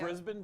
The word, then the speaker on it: Brisbane: Brisbane. Brisbane though. You don't get the A rocking there.